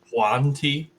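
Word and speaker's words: yuan-ti: Yanti. Couldn't remember their name for a second. I think it's pronounced Huanti. There's no J in the front of it.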